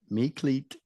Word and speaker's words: Meklit: It's pronounced Meklit and rhymes with beat.